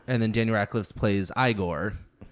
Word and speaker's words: Igor: And then Daniel Radcliffe plays Igor. And it's pronounced Igor. It was Igor.